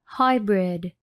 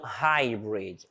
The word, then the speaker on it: hybrid: H sound, então, hybrid. Hybrid. Hybrid quer dizer híbrido. E esse H, iniciando uma palavra, como a maioria das vezes, tem som de R.